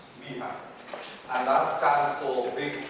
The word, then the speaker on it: BHAG: BHAG, which is also written BHAG, but it's pronounced BHAG, and that stands for Big, Hairy, Ambitious, Audacious.